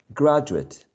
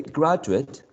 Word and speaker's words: graduate: it is a noun graduate delegate when we say graduate and delegate with a schwa we are referring to a noun in spanish etcetera etcetera